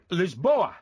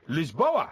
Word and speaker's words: Lisboa: it's Portuguese aorto okay how do they pronounce Lisbon Lisboa yeah Lisboa how do they pronounce